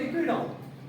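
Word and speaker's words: Ecuador: इक्वेडोर जो कंट्री है इक्वेटर के, मतलब इसके जो, मतलब अगर आप इक्वेटर रखोगे तो सेम आप प्रोनाउंसिएट करोगे इक्वेडोर।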